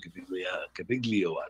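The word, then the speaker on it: Gaviglio: We know it has to have a journeyman pitcher, Sam Cabiglio. That's how it's pronounced.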